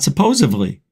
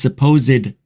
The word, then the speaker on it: supposedly: Supposedly is not pronounced supposedly. There's no B in the word. And there's no V. Not supposedly. It's supposedly.